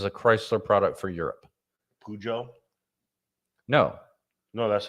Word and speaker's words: Peugeot: Peugeot? No. No, that's how you say it. Yeah, Peugeot? yeah, Peugeot.